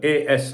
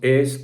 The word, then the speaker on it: AS: the other day saying it's not AS, it's pronounced ACE. I know how to pronounce the name, but if you actually say the Spanish pronunciation of it, it can sound like AS.